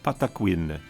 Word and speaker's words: Patakwin: The native word for sacred sound is pronounced Patakwin. Patakwin.